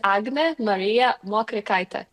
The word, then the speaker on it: Agnė Marija Mokrikaitė: So, so might be complicated for for some to pronounce it correctly, but um my name is Agna Maria Moita.